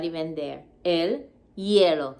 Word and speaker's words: hielo: eskia ice in spanish remember that h in spanish is silent so we don't say el hielo are supposed to just say like the h is not even there el yellow say it ice skating